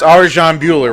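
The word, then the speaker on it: Arjan Bhullar: You're fighting, oh God, I don't want to butcher the guy's name. It's Arjan Bueller, right?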